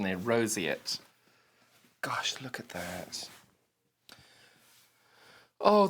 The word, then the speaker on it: Roseate: that Roseate Roseate right we've got the correct pronunciation there Roseate gosh look at that oh this is such